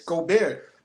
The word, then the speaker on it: Gobert: Pronounce Gobert, but whatever. That's it. That's what I'm saying. It's Gobert.